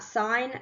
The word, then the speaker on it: sine: Okay, so let's have a look at sine first. Okay, way A, it is not pronounced as sin. It is actually pronounced as sine, even in its short form.